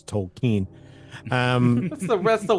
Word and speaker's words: Tolkien: I am one of those hipsters who says Tolen um that's the that's the way you say that's the correct way to pronounce it yeah so see how cool I